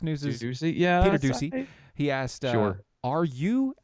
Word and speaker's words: Doocy: Fox News, Peter Doocy. I think that's how you say his name. Fox News is Ducey? Yeah, Peter Doocy.